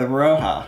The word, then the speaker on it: Rauha: I did yes and how are we pronouncing the name of this game we're gonna go with Roja Roja all right r-a-u-h-a Roja and she's as good as any other pronunciation we came up with a like card